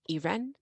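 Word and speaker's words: Irène: 2 years later, they had a daughter, Irene, pronounced Irene because they're French.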